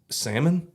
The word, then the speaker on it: salmon: I don't understand it the L silent and then you were like well how do you pronounce that fish that you eat salmon okay okay I see